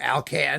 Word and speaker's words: Alkan: Now, for those of you who don't know who Alkan, or Alkan, if you want to pronounce it that way, who he was, Alkan